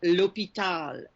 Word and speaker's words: l'hôpital: And words that start with an H use the L apostrophe as well because the letter H is silent. L'hôpital, l'hôtel.